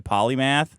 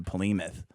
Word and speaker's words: polymath: obviously yes um cuz he doesn't say it right and he named his comic book his new comic book gy Gooding the polymath yeah but he doesn't know how to say it so every time he says it he goes the pooth Gooding the pooth he's promoting it oh I was it is polymath right yeah okay yeah just